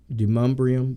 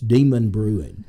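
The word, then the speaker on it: Demonbreun: We call it Demumbrium, but if you look at it, it's Demon Brewing.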